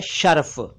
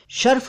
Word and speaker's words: शरफ: और यह शर्फ है शर्फ सही शब्द नहीं है सही उच्चारण है शरफ लेकिन शर्फ चलता है खूब चलता है शरफ अरबी भाषा का ही शब्द है इसका अर्थ है डिग्निटी